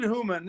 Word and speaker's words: Humann: believe it or not my name is pronounced like human being eight you know even